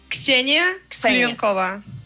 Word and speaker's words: Ksenia Klyonkova: how is it correctly pronounced, your name? Ksenia Klyonkova.